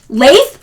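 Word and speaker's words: lathe: Laith. Oh my god. Ghost pain. Thank you. Laith. It's a laith, not a l you guys.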